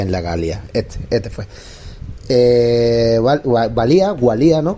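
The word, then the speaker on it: Walia: Gualía, ¿no? Con W se escribe, creo que se dice Valía, ¿vale?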